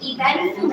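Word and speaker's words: Ébène Fumé: And that's the pronunciation, Even Fume.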